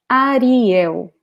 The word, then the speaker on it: Ariel: And probably the name is the same, but we pronounce it like this. Ariel. Ariel. Ariel.